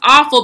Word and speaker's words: offal: one that causes the offal and though it's built with an O it is pronounced awful but it is awful